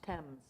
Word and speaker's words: Thames: you say it but is in England towns Thames yeah Thames that's right well they somewhere no